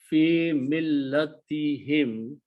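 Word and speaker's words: فِي مِلَّتِهِمْ: So final combination of the words is fi millatihim, in their religion.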